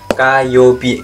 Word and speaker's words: 火曜日: Kayobi. Bacanya Kayobi.